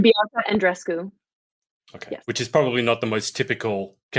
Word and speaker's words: Andreescu: talking a lot about Bianca, how do you pronounce her name? And Andreescu? Bianca Andreescu.